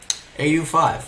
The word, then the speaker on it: Au5: I don't know how to pronounce his name, but how do you pronounce Al5? AU5, okay. AU5.